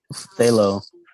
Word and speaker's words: phthalo: That's Yeah, usually the P is like there for no good reason at all. It's like, why did you even put that in there? Why don't you just spell it THAL?